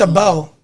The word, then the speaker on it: Abel: Able? I don't think Able? it's Able? Like being able to? No, it's No, EL. A-B-E. It's a bell.